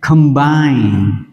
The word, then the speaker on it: combine: Chúng ta chuyển sang từ số 10, combine. Combine. E, chúng ta đọc là I. O, đọc là ơ.